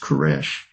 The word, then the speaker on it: Koresh: Cyrus in Hebrew is pronounced Koresh.